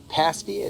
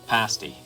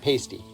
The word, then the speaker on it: pasty: So this is a pasty? How do you pronounce it? Pasty. Yeah. Not pasty. No, pasty. Pasty, all right.